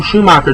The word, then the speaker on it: Schumacher: Schm Joel Schum Schumacher, I've been saying his name wrong for years, Joel Schumacher directed this, he's actually the same guy who did Batman and Robin, I believe.